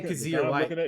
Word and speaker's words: Kyzir: Okay, Kazir White.